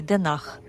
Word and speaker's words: Den Haag: Поэтому, если вам придётся употреблять это название, то произносите по-английски хейг или по-голландски денах.